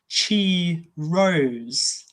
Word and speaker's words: Kairos: But they had another word, which was Kairos. Also, you could pronounce it Chi Rose.